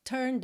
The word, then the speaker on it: turned: que a gente pronuncia não tem o som da letra e então a gente diz turn out turned out do n já vai direto pro D tá turned out so